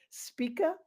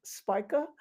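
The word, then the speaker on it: Spica: I pronounce this star name as Spika. Others call it Spya.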